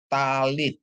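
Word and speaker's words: טלית: Ibu Ya terus ada tap Ya tap dikasih patah bacanya ta lamet dikasih hirik Yod bacanya Li ditambah t ya jadi bacanya talit Ya ta Lit ya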